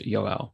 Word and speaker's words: Yoel: So it's pronounced Yoel. So Yoel. So 2 syllables, not Yoel, not Joel. Yoel. So like say you're right, Yo, and then you're saying yo to a person called L, like from 11. So it's like Yoel.